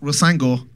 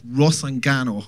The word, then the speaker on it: Rusangano: become Rusangano family, and that's not Rusango, that's Rusangano, because a lot of people are mispronunciating it at the moment.